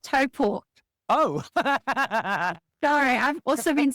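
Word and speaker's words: Taupō: How do you say it? It's Taupo. Taupo. Okay, so it's Taupo.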